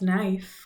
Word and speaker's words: knife: word of course is knife k is silent she didn't know how